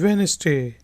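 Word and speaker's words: Wednesday: ट्यूसडे बुध वेट्टे कि वैन स्टे यहां पर यह जो एडिट है यह साइलेंट है चुका है यानी के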